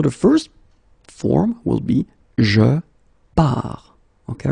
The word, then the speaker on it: je pars: So the first form will be je pars, okay? Remember, you put this S, you don't pronounce it.